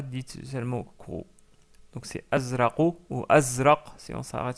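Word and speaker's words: أزرق: Et on le prononce azraqu. Azraqu. Qui se termine avec une lettre que nous n'avons pas encore vue. Mais vous pouvez prononcer la lettre Q pour s'approcher de cette lettre-là. Mais c'est pas exactement le Q. Donc c'est plutôt azraqu.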